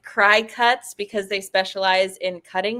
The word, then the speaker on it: Cricut: So I put the spelling of Cricut below because it is not spelled like the bug. Right. It is like Cry Cuts because they specialize in cutting machines.